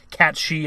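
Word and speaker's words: Cait Sith: But we haven't seen Tifa, Aerith, we haven't seen Red 13, we haven't seen Cid, Yuffie, Vincent, Kate Sith, or Cat She as it's actually pronounced.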